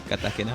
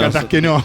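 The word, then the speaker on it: κατασκηνόω: Catasqueno. Catasquino. Sí, en realidad la acentuación está en la última O para aquellos que después me puedan llegar a decir acentuaste mal. Catasqueno. Por lo menos Catasqueno.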